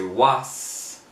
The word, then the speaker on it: was: la palabra was, usualmente la palabra was, en la letra final se le suena como una Z, más como una Z que como S. Entonces no se dice was, se dice was, así como que como que estamos frenando el sonido de la S y se está metiendo una letra Z.